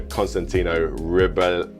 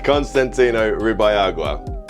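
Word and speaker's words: Constantino Ribalaigua: Floridita Bar in Cuba by the legendary bartender Constantino Ribayagua. Constantino Ribayagua. By the legendary bartender Constantino Ribayagua, and there's no need to comment on that pronunciation because I pretty much nailed it.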